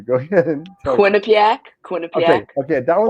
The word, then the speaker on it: Quinnipiac: I'm going to mispronounce this university, so I'm going to have you go ahead and tell me. Quinnipiac, Okay, Quinnipiac, okay, that was or going to you could be.